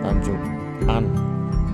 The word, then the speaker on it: Tanjung Aan: Itu kelihatan dari sini Tanjung Aan. Ya, betul. Tanjung An. Tulisannya sih Tanjung Aan tapi bacanya Tanjung An.